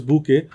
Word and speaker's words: Bokeh: is primarily or sorry this is pronounced as book book is another library